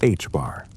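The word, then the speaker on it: ħ: An electron could only have angular momentum values that were integer multiples of h divided by 2p, the quantity now written as h bar and pronounced h bar.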